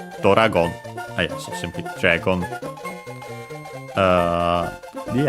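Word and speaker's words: ドラゴン: And so yeah, we add O instead of the usual U, sometimes E. But yeah, because both of those would change the sound of the consonant. So yeah, we add Do, O to make Do, Doragon.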